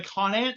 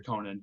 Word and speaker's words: Conant: A lot of people also don't know how to pronounce the name. As far as I know, it's pronounced Conant, but whenever I'm using GPS, it's like, go on to Conant Street. I'm like, no, it's not how it's pronounced.